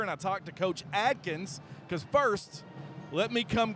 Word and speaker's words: Adkins: And sure enough, I might have made a mistake and said Coach Adkins' name wrong on the broadcast. Hey, I was thinking I might have said Adkinson.